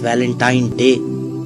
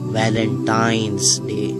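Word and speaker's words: Valentine's Day: है अब आप इस वैलेंटाइन डे के नाम पर गौर करें इसे जो आम कहा जाता है यह वैलेंटाइन डे है लेकिन हकीकत में जो इसका प्रोनाउंस एशन है वह है वैलेंटाइंस डे य एक वैलेंटाइन वाला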